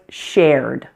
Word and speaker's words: shared: Now the first ED ending word was shared. Shared. This one has 1 syllable. It may look like it should have 2 syllables, but in fact we only pronounce the 1 vowel sound, air.